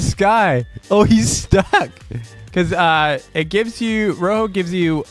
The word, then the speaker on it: Rojo: use Rojo, aka Rojo, which is the proper way to say it, people. Look it up. It's the right way to say it. Say Rojo in Spanish. Rojo. Rojo. Rojo. Everyone wants to call it Rojo. It's not Rojo.